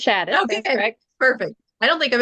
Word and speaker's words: Shadis: is is it shadis am I pronouncing that right it is it's shadis perfect I don't think I've ever even said